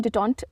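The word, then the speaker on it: détente: word है डिटन डिटेंट इसको हम डिटन प्रोनाउंस करते हैं डी ई टी ई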